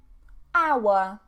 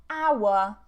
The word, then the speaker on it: hour: And remember, we're British, we don't pronounce the R.